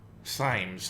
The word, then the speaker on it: Symes: Symes, I think is how you say that name. You're online, good. Call me Symes.